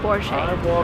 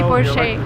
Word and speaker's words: Porsche: it's a german name the stress goes to the first part of the word and we say porsche remember never say porsche never never and don't